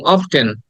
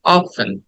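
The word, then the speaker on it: often: নাফস আচ্ছা আমাদের ছোটবেলায় আমরা অনেকে এটাকে ভুল উচ্চারণ করেছি আমি নিজেও করছি যেমন আমরা বলতাম অফটেন হ্যাঁ অফটেন অফটেন না it should be like অফেন অফেন অফেন অফেন right অফেন and next word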